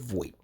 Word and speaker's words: Voigt: I'm gonna go with Voigt. The G is silent.